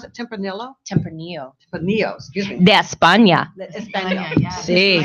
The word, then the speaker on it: Tempranillo: what this red wine is from how you pronounce it Tempranillo Tempranillo put Neos using d'espagne Spain absolutely nice